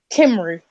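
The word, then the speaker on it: Cymru: mean obviously Shane the kymer chief can back up where Wally liked I hate that nickname I hate that so much no I'll embrace it when you can actually pronounce the word correctly kimru just shut up move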